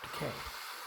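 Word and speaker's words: Takei: And of course, the Excelsier has been autographed by the original Captain Sulu, George Decay. Finally got to pronounce it right.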